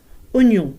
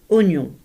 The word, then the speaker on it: oignon: Oignon se prononce oignon et non oignon ou encore des haricots.